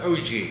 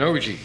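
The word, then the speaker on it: ogee: and a cove it creates what they call an og that's spelled o-g-e-e and here's one right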